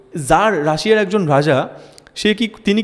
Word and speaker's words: tsar: টাজার নয় উচ্চারণটা, কিন্তু TSAR, টি আছে বলে টাজার নয় উচ্চারণটা।